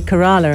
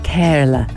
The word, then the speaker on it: Kerala: the iq princess of now how do you pronounce kerala you see i i'm british so i went to say kerala and house was like no anna that's wrong